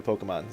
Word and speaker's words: Pokémon: I know that's the official pronunciation, I just call it Pokemon because I am lazy and don't care.